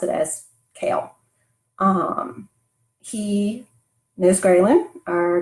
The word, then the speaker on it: Kael: L some people pronounce it differently but I pronounced it as Cael um he knows gralen our guardian angel from